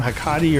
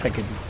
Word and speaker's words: Hecate: Hakati or Hecate? I think her name's Nick. I think it's pronounced Hecate.